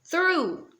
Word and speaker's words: through: Essa palavra, a pronúncia dela é through. Through. Olha a diferença que esse ozinho faz aqui depois do H, certo?